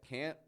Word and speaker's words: can't: they can't fit here we got to get that can't full stop we can make it